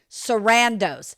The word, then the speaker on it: Sarandos: Sarandos.